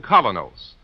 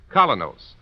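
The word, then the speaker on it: Kolynos: is start cleaning your teeth with the new colonos a high polishing toothpaste its action is like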